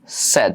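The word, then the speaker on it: said: করো সেজ সেজ হ্যাঁ এটার উচ্চারণ সেইড না এটার উচ্চারণ হচ্ছে তোমার সেড এটার উচ্চারণ কি সেড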